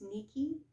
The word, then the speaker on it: Ni-Ki: But it's Ni-Ki, so I think it's Nikki is how it would be pronounced properly.